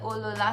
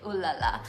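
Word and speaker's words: Oh, Lola!: This is the Eau La La smell, and sometimes I mispronounce it and call it Eau La La.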